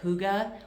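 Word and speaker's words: hygge: People also call it huga, which is spelled h u g ge.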